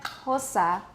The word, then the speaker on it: Xhosa: And that's why hosa is pronounced with a lateral click plus aspiration.